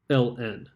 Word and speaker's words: ln: for natural logarithm but it's actually written as ln now the reason we write it as ln and it's pronounced l n the reason that we write